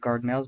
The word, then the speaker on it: Dardanelles: This was for control of the Dardanelles, and that's I pronounce it Dardanelles, but spelled with a D.